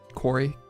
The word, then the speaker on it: Korey: Korey. Korey. Korea is a country. My name's pronounced Korea, but with a Y, so an A.